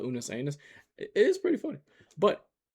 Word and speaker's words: Unus Annus: Unus Annus. And did I pronounce that correctly? No, it's okay. it pronounced? Unus Annus.